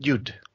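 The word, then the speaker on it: Judt: you would pronounce it yud right the J is a y sound and then she also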